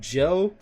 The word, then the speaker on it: Jho: This dude named Joe, no idea who that is. That's just a regular nigga off the street who got hands. It's spelled JHO, but Joe.